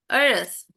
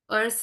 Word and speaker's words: earth: Earth. Earth ya. Kita udah pernah belajar kan kalau ada TH di belakangnya, Yes. Earth. bacanya kayak sa, Earth.